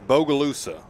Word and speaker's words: Bogalusa: Now, wait, I was pronouncing this Bogalusa. That's Bogalusa.